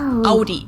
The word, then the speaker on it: Audi: the first one is Audie most Americans that I know pronounce it like I just said it AI in German we say Audi Audi and there's actually a